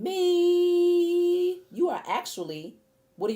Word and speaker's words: mi: And me, saying me, you are actually, what are you saying? It's spelled M-I, but you're saying me, okay?